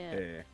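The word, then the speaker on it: へ: Which is pronounced A. Yeah. Eh. The one that we and never hair. use. Because it's pronounced A, but written as hey.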